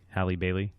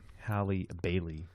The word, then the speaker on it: Halle Bailey: we're gonna talk about Peter to Halle belly Halle Bailey that's we Calipari he mispronounced it Hallie Bailey no this was off mic a couple of